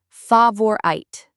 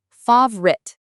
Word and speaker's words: favorite: Many people say favorite, 3 sounds, but native speakers usually just say 2. Favorite. Favorite? Like the O is invisible?